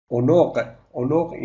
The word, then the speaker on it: عنق: Onoq is yeah, the pronunciation is onoq.